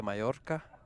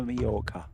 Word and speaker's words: Mallorca: say we say palma majorca there you go or some people even say majorca not me though george there's no j it's double l which is pronounced almost like a y in spanish she's been very close